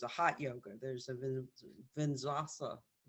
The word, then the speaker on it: vinyasa: There's a hot yoga, there's a vinyasa, how do I pronounce it? Vinyasa.